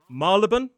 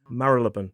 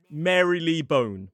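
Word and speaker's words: Marylebone: Some people will say Mariban Marlean whereas if you head to the Cambridge dictionary you will see it with four syllables Marilaban. But it is definitely not Mary Lee Bone.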